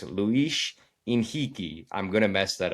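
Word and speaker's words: Luis Henrique: The H at the beginning is silent and then in the middle of the word R in Brazilian actually makes the H the H sound.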